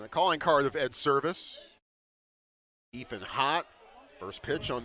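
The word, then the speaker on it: Servais: Ed Service, the head coach of Creighton. That one just misses somewhere. 1-1. Last name is spelled Servivais. Just like Scott Service.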